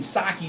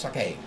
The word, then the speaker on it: sake: I've been pronouncing Saki forever. Saki, Saki, Saki. Well, my Korean son-in-law, who knows 3 languages, always corrects me on my pronunciations, which I appreciate greatly because he's very knowledgeable in the language. But he's my Korean son-in-law, and sake is actually pronounced sake. Sake. Sake.